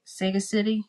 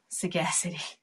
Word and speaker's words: sagacity: powers of might say sega city saggy city i guess we'll pronounce it sagacity oh sagacity bad sagacity thank you i